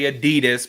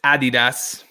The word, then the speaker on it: Adidas: I know us Americans will say Adidas, but it's not. It's Adidas. Mary says Honey Nut Cheerios are that's not the one.